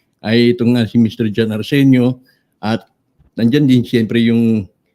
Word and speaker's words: Areceneaux: It is, just leave the N-E-A-U-X silent. Areceneaux.